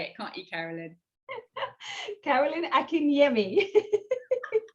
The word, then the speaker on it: Akinyemi: Akinyemi. You know, I was thinking, am I going to pronounce it correctly? And there you go. You can say it, can't you, Carolyn? Carolyn Akinyemi.